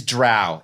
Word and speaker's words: drow: I feel like part of the argument also comes from Ed Greenwood, which is he clearly stated that it was cow, not show.